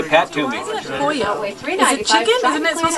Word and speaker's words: pollo: Because a double L in Spanish is pronounced as a Y.